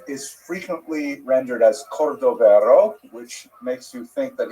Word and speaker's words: Cordovero: It's a Portuguese spelling, but it's kind of a strange thing to pronounce in Hebrew, so it was sort of mangled into Cordovero, and that has become the standard, even though it's probably not correct.